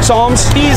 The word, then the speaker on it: Psalms: Like Psalms. PSL. Yeah, but it's kind of silent, right? Psalms. The peace out.